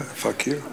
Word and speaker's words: fakir: spoke of, I'm not sure I'm going to pronounce this correctly, the way of the fakir. Yeah, fakir.